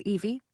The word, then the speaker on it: Evy: if we break down the letters EVE, it's actually pronounced as Evie with a long E sound at the end.